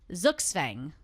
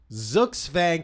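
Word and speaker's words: Zugzwang: All right, the first one is Zuxfang. Zuxfang, can we spell it for our radio audience, That is please?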